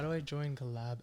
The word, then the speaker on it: CollXab: Well, it's collab. It's like XX. No, the X is just silent. People are like, it's like collab collabs. X. Xylophone. They're like, how do I join collab X?